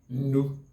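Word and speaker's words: nnu: Nu in Igbo language. And the nu is spelled as ne-ne-u.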